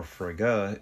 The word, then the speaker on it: Frigg: Welcome back to Anomalous Coffee and today we're doing Cup of Frigg. Which, who may that be? I almost thought I had two monitors. No, I don't. Frigg, or Frigga, is the queen of the Aesir in Norse mythology.